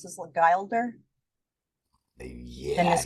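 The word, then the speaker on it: Guilder: How did you pronounce this? Gilder? Yeah. Dennis Gilder.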